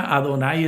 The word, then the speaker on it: Adonai: Están ya, Adonai es la palabra que se pronuncia.